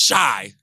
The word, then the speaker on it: Chi: Shy is CHI. Yeah. But it's pronounced shy, like I'm shy.